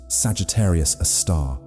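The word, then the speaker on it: Sagittarius A*: At the center of the Milky Way lies a super massive black hole called Sagittarius, a star, pronounced Sagittarius, a star.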